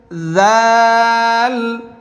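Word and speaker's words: ز: টান দেই আলিফ বা তা সাম হা দাল জাল র র হ্যাঁ মাশাল্লাহ মাশাল্লাহ হ্যাঁ সবাই পড়তে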